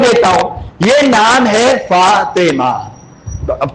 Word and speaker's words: فاطمہ: یہ نام جو ہے فتومہ نہیں ہے اور یہ نام فاطمہ بھی نہیں ہے. فاطمہ کیا ہوتا ہے؟ میں تو ٹوک دیتا ہوں، یہ نام ہے فاطمہ.